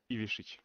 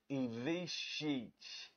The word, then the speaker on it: Ivišić: Ivišić. Ivišić.